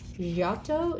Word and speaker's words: Giotto: So there's lots of cool things about the name is pronounced Giotto di Bandone.